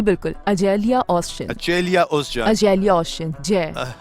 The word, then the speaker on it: Açelya Özcan: इज़ इट the right pronunciation of your name? यही ऐसे ही बोलते हैं इस नाम को? जी बिल्कुल, अजेलिया ओज़चन।